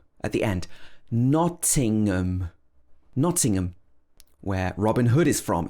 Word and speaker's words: Nottingham: two is very similar it's not pronounced with ham it's um at the end nottingham again the first syllable is stressed nothing um so again